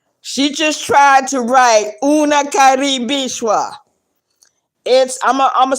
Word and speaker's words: unakaribishwa: So it's UNAKARIBISHWA. Una karibishwa. The same way you see it, the same way it's spelled, that's the way you say it.